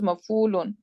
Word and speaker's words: Maf'ul: And Maf'ul would be, again, the Ain is eaten, right? So there is no Ain Kalma. This is Maf'ulun. Actually, this is how we pronounce Maf'ul, right? We usually skip it anyhow. Shortcut. Ain is hard to pronounce.